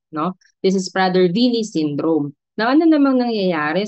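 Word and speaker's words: Prader-Willi: Next we have the Prader Vily syndrome. So pronounced as V yung W. So might be because of its uh German origin kasi sa Germany ' ba yung W pronounced as V no?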